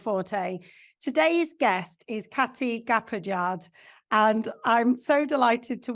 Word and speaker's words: Gapaillard: Today's guest is Káti Gapaillard, and I'm so delighted to welcome you.